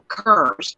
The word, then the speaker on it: Kerr: And this girl was friends with family called the Kerrs, Kerr, Kerrs. Like Deborah Kerr. And this particular family, yeah, like a cur dog, there's but I think they spell that with a C-U-R.